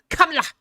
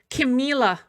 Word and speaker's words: Kamala: It's just like how people mispronounce Kamala's name. Kamala, okay? Camila, all right?